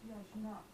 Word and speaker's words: yajna: Another word in Sanskrit for it is yajna. Spelled with a G, not pronounced with a J.